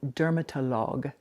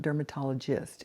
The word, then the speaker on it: dermatologue: It's called dermatologue. It's not dermatologist. It's dermatologue spelled with gu at the end.